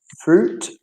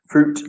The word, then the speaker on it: fruit: The Fruit juice. So the I is silent. Leave the I. Fruit juice.